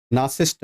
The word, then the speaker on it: narcissist: a person in love with himself नरिसिस्ट नासिस्ट बिल्कुल इसको बोलते हैं अब देखो ना ये अगर सी को साइलेंट कर लो नारी और जीवन का